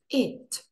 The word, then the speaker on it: it: It. Зверніть увагу, що читається не через нашу букву «і» – «ід», а ближче до «и» – «it».